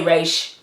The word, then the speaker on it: Ra's: to me and so I always say Roz and I think I stuck with Roz because when I did a podcast interview with Paul Levitz he pronounced it bras and he's of God so I was like okay if he says it like that but I don't even say grace it's fine you could say Rach not gonna judge you it's just really